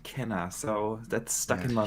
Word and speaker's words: Kena: i go for but i heard an interview with the developer uh and cheaper now with one of the developers and she pronounced it kenner so that's stuck in